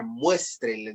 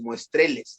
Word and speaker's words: muéstreles: Muéstreles, la tónica es la primera, muéstreles la antepenúltima. Y entonces el inciso D está marcándose que la penúltima de 3 sílabas es la tónica y no es muestreles, es muéstreles.